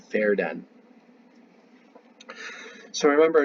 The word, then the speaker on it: Verden: in a place called fair den so I remember in German V's are pronounced like an F so I say fared